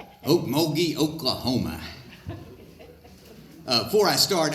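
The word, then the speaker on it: Okmulgee: nate the okie from oakmoby thank you lynn she pronounced my hometown correctly oakmogee oklahoma uh before i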